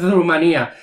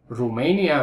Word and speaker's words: Rumanía: No lo sé, a lo mejor en el país de este chico se dice Rumania, pero en España se dice Rumanía. En español se dice Rumanía, Rumania es en inglés, ¿eh?